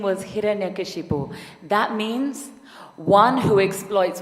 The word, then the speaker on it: Hiranyakashipu: His name was Hiranyakashipu. And I don't expect you all to pronounce that correctly first time round. His name was Hiranyakashipu.